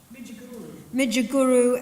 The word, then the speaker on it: Midgegoroo: But the great warriors of resistance in this part of the world, is it Midjaguru? Midjaguru and his son Yagan.